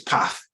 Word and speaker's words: path: It's Path to me. I'm sure it's pronounced differently to all you lot, but to me it's Path with an A, not an R.